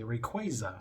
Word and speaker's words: Rayquaza: Sapphire, and Emerald when I used to say Rayquaza for the first time, but I call it Rayquazilia. And yeah, I know, right? And it wasn't until Destiny Deoxys they say Rayquaza, and I was like, oh.